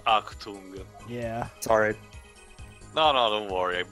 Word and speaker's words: Achtung: Also, Pedro, for the record, yeah, it's pronounced Achtung.